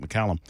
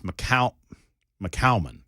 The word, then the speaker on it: McCallman: I'm hoping Representative Jake McCallum, which I'm mispronouncing his name. It's McCallman. Am I saying it right, Sapicki? Jake's name? Help me. McCallman. That's what I said. But McCallman. That's what? Like Salmon.